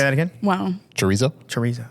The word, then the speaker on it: chorizo: They did like chorizo. There's 4 different meats. Say that again. Wow. Chorizo. Chorizo. Oh, okay. Is that how do you say it? Yeah, chorizo.